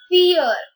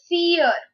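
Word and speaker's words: vier: d r e i before is said as fear fear it's not weird it's fear so v is pronounced as pow so fear and if you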